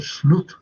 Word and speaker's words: Slot: Apparently, Slot's name is pronounced as Slut in Dutch.